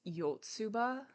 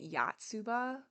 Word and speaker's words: Yotsuba: was saying this wrong I was saying it with my American Chicago accent it's yotsuba and I've been saying it yatsuba because that's just how